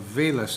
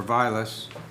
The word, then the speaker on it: Vilas: and just north of Vilas Avenue, or Vilas, I never know how to pronounce that. Second time is right.